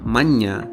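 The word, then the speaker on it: മഞ്ഞ: और यही नहीं, काफी बार ये न्या डबल भी हो जाता है, making the sound nya. Like for example, manya meaning the color yellow.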